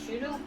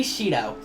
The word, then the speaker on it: Shido: Masayoshi Shudo? Masayoshi Shido.